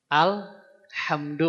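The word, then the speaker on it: الحمد: ini apa Pak Bu alhamdu maksudnya ya alhamdu nah alhamdu Yang a ini tidak boleh dibaca kalau pertengahan tapi kalau di awal baru dibaca kalau disambung dari kata bismillah bismillahirrahmanirrahimil hamdu a-nya enggak dibaca tapi kalau dipisah Bismillahirrahmanirrahim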